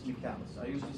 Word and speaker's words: Michaelis: You think, oh, it looks like Michael's, it's Michaelis. I even searched for it. It's pronunciation, it's Michaelis. I used to say Michael's, it's Michaelis.